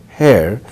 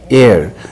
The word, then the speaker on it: heir: to the Buddhist ey hair uh not hair how do you say h e i r air and Buddha's air an